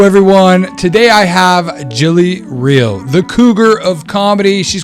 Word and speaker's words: Reil: you're in florida so my last name is pronounced real which is why god